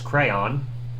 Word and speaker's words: crayon: do you pronounce crayon well it's pretty much two syllables crayon symbol rhymes with dawn yeah crayon instead of crayon like crayon what at least similar